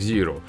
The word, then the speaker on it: Xiro: дрон наверное все же на американский манер правильнее произносить как зиру да и черт с